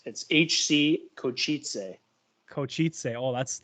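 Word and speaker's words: Košice: So it's HC Kosice. Kosice. Oh, that sounds exotic. I love it. Oh, that's awesome. My man. fiance is correcting me. What is it? Kosice.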